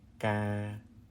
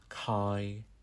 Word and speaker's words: ca: beginning of the word, it's pronounced like the CK in the word hockey. Hockey, ga, ga. So our example words are coi, ca, cao. It's not kai, ka, cow. It's an unaspirated C.